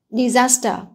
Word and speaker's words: disaster: là bởi vì là trọng âm ở đây Mặc dù nó là danh từ Ban Tiếp có nghĩa là thảm họa nhưng mà trọng âm rơi vào những thứ hai Lý do là biển tiếp đầu nó đoạn viết nhẹ trên trong ống dây có nhiều thứ hai ạ disaster tiếp theo ở